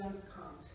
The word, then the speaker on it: can't: In British English, you can tell the difference between can and CAN apostrophe T because there's a change in vowel quality there. Can, can't.